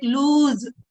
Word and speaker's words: lose: I told you it has to be pronounced like lose. Z sound should be there.